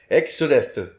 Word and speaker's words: Exdeath: the Japanese pronounced exdeath Exodus Exodus it yes it sounds like Exodus yeah this makes me